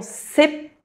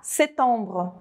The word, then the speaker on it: septembre: Mas também eu não posso falar “setembre, setembre” Para eles soa ligeiramente errado.